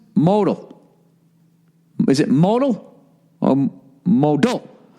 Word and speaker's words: Modell: during your read note Modell is pronounced modal modal this underwear is as